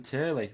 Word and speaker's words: Turley: if i'm honest uh stefan turley rhymes with shirley call it shirley ali